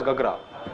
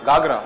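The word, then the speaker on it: Ghaghara: It pronounced as Gagra. Gagra.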